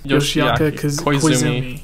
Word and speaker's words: Yoshiaki Koizumi: Is that how you pronounce his name? Yoshiaki Koizumi.